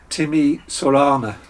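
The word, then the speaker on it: Timișoreana: whilst i'm doing so this is i believe pronounced timmy sorana or sawana something like that it's a romanian beer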